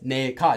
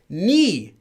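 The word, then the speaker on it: 네가: It's actually pronounced as 니가. It's spelled as ne. It is not spelled as ni. But the pronunciation of this is ni.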